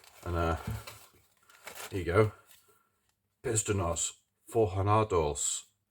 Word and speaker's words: Forjados: Pistones Forjados. It's a H, isn't it? J is pronounced as a H in Spanish.